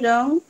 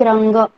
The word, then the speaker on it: रंग: मला गुलाबी रंग आवडतो. आवडतो. Okay, you have to pronounce like रंग, नॉट रंग. रंग वी प्रोनाउंस इन हिंदी.